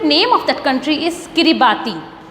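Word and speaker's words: Kiribati: So student, name of that country is किरिबाती। किरिबाती, कई लोग इसको किर्तिबस भी कहते हैं। आप जो प्रोनाउंस करना चाहें अपनी श्रद्धा अनुसार आप प्रोनाउंस करें।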